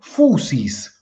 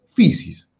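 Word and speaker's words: φύσις: Muchos le dicen a la fisis, le dicen fusis. Yo escuché gente decirle fusis. No es lo más recomendable. ¿Por qué? Porque la yil se puede hacer eh decir i. Entonces, fisis.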